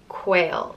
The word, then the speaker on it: Caol: Next is Caol, and it means slender or narrow, and it's pronounced Caol or Quail.